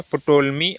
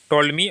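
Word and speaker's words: Ptolemy: है पटोलमी and Strabo टोलमी और Strabo यह पी साइलेंट होगा इसमें टोलमी एंड स्ट्रेबो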